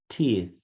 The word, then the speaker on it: teeth: I brush my teeth. Tem o som do TH, né? Teeth. Que é essa língua que é.